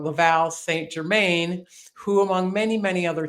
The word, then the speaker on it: Laval St. Germain: And I was introduced to Laval, excuse me, Americans say it wrong, Laval St. Germain, who, among many, many other things, is the only Canadian to ever climb Mount Everest without supplemental oxygen.